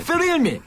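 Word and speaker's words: Thrill Me: 여기 이제 발음이 이게 쉽지가 않습니다. 저는 이제 토익을 준비했기 때문에 할 수 있는 발음인데 뻔데기 발음이 들어가야 됩니다. 예. 뻔데기 들어가 줘야지요. 쓰릴미 쓰릴미 공연 티켓을 여러분께 드리겠습니다.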